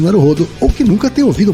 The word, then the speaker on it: Naruhodo: Nos últimos episódios, vocês têm deixado mais explícita a pronúncia oxítona de Naruhodô. Naruhodô.